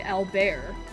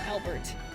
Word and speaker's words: Albear: Yeah, I'm still having a brain fart about enhance, but I'm hopeful I can play Albear. That's how you pronounce his name. Not Albert. Albear, which is really silly.